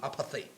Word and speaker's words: apartheid: Let's now take it back to South Africa during the apartheid era, apartheid. Yeah, that's how it's pronounced.